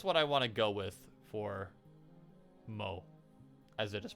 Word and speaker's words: Mot: that's what I want to go with for MO as it is pronounced it's spelled Mott but it's pronounced Mo